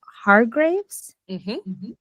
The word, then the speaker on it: Hargreaves: Um, so Katherine and please tell me if I'm pronouncing your last name. Har Graves.